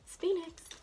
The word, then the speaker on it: Phoenix: here, and those shade names are Eternal and Phoenix. Yep, that's how you say it. Phoenix.